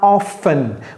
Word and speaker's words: often: Ou bien how often? Vous n'avez pas besoin de prononcer le T.